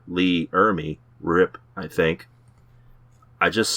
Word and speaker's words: Ermey: to say the last name it's r lee ermey last i saw them goblins was tearing into